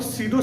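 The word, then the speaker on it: pseudo: अब फॉल्स को आप सीडो सॉलिड भी बोल सकते हैं, फॉल्स कहिए या सीडो कहिए, इनमें पी साइलेंट रहता है।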